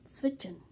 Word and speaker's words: zwitschern: German that's called switching switching is spelled z wi t s CH ER in switching now that s in the middle is completely silent but it's fiction means